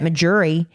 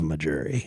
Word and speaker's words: Mejuri: A diamond ring that's easily over $500 at a traditional retailer, less than $200 at Majuri, but not because they're cutting corners, because they don't have the expensive overhead.